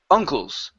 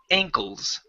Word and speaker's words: ankles: so angry have it you have an a NK that's always an AE sound as well as an ang that's a long a before you'd said uncles uh uncle is like your aunt and uncle this is the ankles ankles good so um